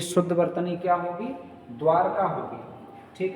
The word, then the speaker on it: द्वारका: शब्द और आता है द्वारका ठीक है द्वारका ये इसका शुद्ध उच्चारण द्वारका होना चाहिए लेकिन ये अशुद्ध उच्चारण इसका प्रचलन में है वो है द्वारिका अशुद्ध उच्चारण क्या है इसका द्वारिका और ऐसा ही फिर